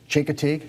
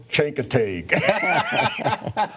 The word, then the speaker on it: Chincoteague: and Klein looks at me and he says shank a tag I was on the phone yeah just admit you can't pronounce the word no idea it was and